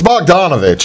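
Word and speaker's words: Bogdanović: a sudden Oladipo would turn it on, or Bogdanovich, however you pronounce his name. Tell me about I can't pronounce Bogdanovich. It. It's Bogdanovich is what his last name is.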